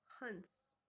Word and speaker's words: हंस: होता है, यहाँ हंस, तो उसमें न की साउंड आती है, यानी उसका जो हम लोग उच्चारण करते हैं वो हमारी नाक से होता है। आवाज जो होती है हमारी, जो हवा कहाँ से आती है, नाक से, हंस।